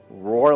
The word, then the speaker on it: Rohr: And that's when Doug said, roar like a lion, baa like a sheep, Rohrbaugh.